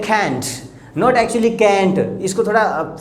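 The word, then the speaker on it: can't: अब देखिए मैं कैन नहीं बोल रहा हूँ, कैंट को कैंट बोल रहा हूँ, यानी कैंट बिल्कुल सॉफ्ट करके टी के ऊपर, यानी जो टे है हिंदी का उसके ऊपर आपको स्ट्रेस नहीं डालनी, कैंट नहीं बोलना, कैंट, राइट।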